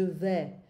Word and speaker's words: vais: Be careful of this pronunciation, je vais, because I hear you a lot of times saying je vas. Non, je vais.